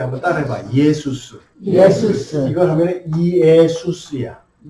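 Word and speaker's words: Ἰησοῦς: 예수스야. 한번 따라해봐. 예수스. 이걸 하면 이에수스야. 원래 예수님은 천천히 발음하면 뭐라고? 예수스야.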